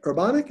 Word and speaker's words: Urbanic: see okay good urbanic urbanic is how you say that very good happiness is